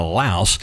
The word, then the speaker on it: Laos: Hey folks, and welcome back to Laos. Uh, I know the S is silent.